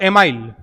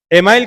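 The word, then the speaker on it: Émile: किताब का नाम था एमाइल। या जिसे एमिले भी बोलते हैं, कई बार इसका प्रोनाउंसिएशन एमिले भी करते हैं, तो एमाइल।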